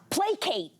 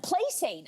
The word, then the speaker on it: placate: But for the longest time, I pronounced playsate. I said playsate, and someone had to, you know, correct me.